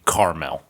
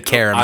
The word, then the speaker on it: caramel: lazy Carmel yeah caramel yeah that is you know that was a lazy person yeah that's what I'm carel caramel I can't I can't be bothered to pronounce the second a fart noise from my face so you agree caramel it makes sense that it would be caramel I'm saying it how all the letters all the letters are